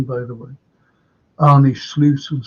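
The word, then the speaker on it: Arne Slot: and say you know look at at uh Annie SLO that's how you pronounce his name by the way Annie SLO and say um oh he's like CL please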